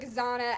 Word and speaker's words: Zahna: for Branding and so I took Zana as the last half of my name in Spanish with the pronunciation on it and then I added the English um you know Twist on it so itzano Zana yeah love it love it